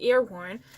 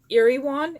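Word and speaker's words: Erewhon: I was pronouncing it Earworn, but it's actually Iriwan.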